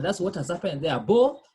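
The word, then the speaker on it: beaux: Beau, pronounced the same. Singular and plural pronounced the same. Beau, beau with X.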